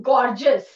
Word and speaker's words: gorgeous: See it is gorgeous. Okay. We when it is e o u s we don't say es. We say us.